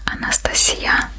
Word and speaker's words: Anastasia: is your age so my real name is Anastasia in my language it's pronounced Anastasia and I'm going to